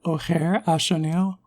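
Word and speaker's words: Ojer Axonil: Oger Axonil? You gotta pronounce that J more like an H. The name is more like Oger Axonil. Ah, there we go. Okay. So Oger Axonil do they pass the Hero's Blade vibe check?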